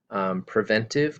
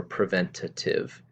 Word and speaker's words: preventative: about spelling and pronunciation preventive can also be spelled and pronounced as preventative and i have more details about that on this slide so i just want to let you know that you might hear both pronunciations preventive or preventative and there's no real difference between them the goals for this